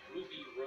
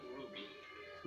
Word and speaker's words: RWBY: To stay forward, you will work together as Team RWBY. Led by? Led by RWBY Rose. Team RWBY, oh, I get it, RWBY Rose. Yeah. Looks like RWBY, RWBY. That's what it would be pronounced as.